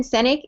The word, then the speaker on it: Sinek: so you can go on youtube so simon senick his last name is spelt s-i-n-e-k so it's a youtube clip um